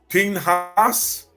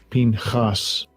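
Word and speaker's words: פִּינְחָס: h 6372 p p now you see how they pronounce that there in the Hebrew Pinas Pinas right watch this strongs H 6372 Pinas p and here it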